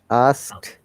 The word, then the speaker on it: asked: know it will listen this sound t not d asked okay ask actually sorry asked asked uh i've heard that many times our learners also pronounce this word ask it help it work it so you need to be careful can you please try this words to pronounce it correctly us ask these this should sound like tea us okay us us